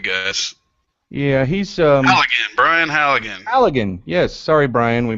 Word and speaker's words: Halligan: pulled up I keep forgetting his name Brian Hallett house yeah anyway big guys yeah he's um Brian Halligan Allegan yes sorry Brian we butchered your name but you have a multi-million